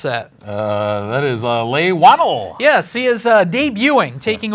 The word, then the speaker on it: Leigh Whannell: Wow, I didn't even think about asking you how to pronounce that. That is Leigh Whannell.